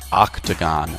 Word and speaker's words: octagon: square, pentagon, hexagon, heptagon, octagon, nanogon, decagon. One of these shapes is not like the others. The O in octagon is pronounced ah.